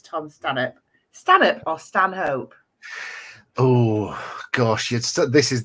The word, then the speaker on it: Stanhope: evening so it is it has always been in my family stanh hope but but it is pronounced Stan up by some people and it if you say it's Stan hope then that's how you say it is that's